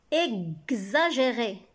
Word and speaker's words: exagéré: Exagéré. Gz. X se prononce gz. X fait le son gz.